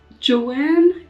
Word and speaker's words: chai: tomorrow so with chai It's J actually chai is like how you say it in Hindi but Punjabi I would say J I'm going to have